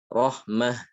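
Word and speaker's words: رحمة: Imro'at, ni'mat, rahmat, ya. Adapun jika ditulis dengan ta marbutah, ya, maka itu kalau waqaf adalah imro'ah, ya, ni'mah, rahmah, seperti itu.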